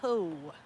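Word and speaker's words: kou: yep these are Co that's k-o-u Co pronounced Co these are Co trees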